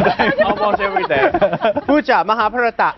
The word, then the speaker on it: Mahabharat: Pooja, Mahabharata. How do you pronounce Mahabharata in India? In India, it's Mahabharat.